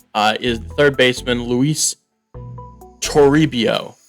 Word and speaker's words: Toribio: is third baseman luis toribio turibio yeah i think that's how you say it b potential at 58